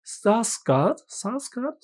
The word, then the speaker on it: Sarsgaard: Und dann haben wir noch Peter Sarsgaard. Ich glaube, der wird so ausgesprochen, weil er Amerikaner ist und keine Skandinavier.